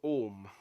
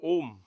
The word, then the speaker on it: om: that defines the world it is the sound of three syllables aoma and the lord is called because he is the lord of the three letters he is the lord of om as well om doesn't